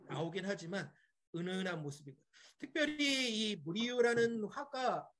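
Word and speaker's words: Murillo: 하지만 은은한 모습입니다 특별히 무리유라는 화가 보통 영어권에서 물이 진료하고 부립니다 왜 그러냐면 스페인에서는 l자 두 개가 붙으면 y자 발음이나요 그래서 물이 요하고 부릅니다 분명히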